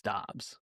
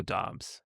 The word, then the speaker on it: Doubs: And he say he says it's Dobs. Romeo Dobs. Like do obs like Josh Joshua Dobs. Oh shoot. But spelled with a U.